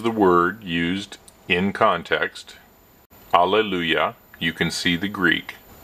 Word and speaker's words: alleluia: Here again we can see the original Greek, and the phonetic spelling or the pronunciation is alleluia, alleluia, not Allah. With a lazy A, it is alle, long A sound, alleluia.